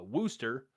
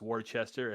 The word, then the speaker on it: Worcester: So back in 2016 um I was in Boston and I took a train over to uh Worster. It is not pronounced Warchester as I was angrily told.